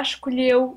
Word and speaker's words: escolheu: Remember that the L and H together, you pronounce lu.